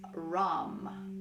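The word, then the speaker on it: Ram: worked pretty hard um the seed syllable for this part of the body is rom r-a-m it's somewhere between r-a-m and r-u-m so feel free to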